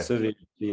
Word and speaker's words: Szövérdfi: You're going to have to help me with the pronunciation. I can get the Zoltán part, but Szövérdfi. Okay. Szövérdfi, that's his name.